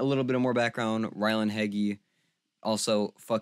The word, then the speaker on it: Ryland Heggy: so again a little bit of more background Ryland heggy also you Ryland for saying that's how you pronounce your name I don't like it but